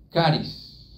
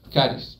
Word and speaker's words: charis: se traduce como gracia es caris se escribe ch o charis si lo leemos en español caris yo no sé si